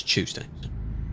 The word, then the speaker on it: Tuesday: it's a pun on the Brits say not saying Tuesday like T it's ch chewing your food I heard the trailer there make that sound that was good so it's Tuesday control the camera that